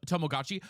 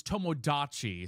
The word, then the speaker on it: Tomodachi: I thought it was Tomogachi. No, Tomogachi is like the little pets you used to carry around. It's Tomodachi, so it's with a D, not a G.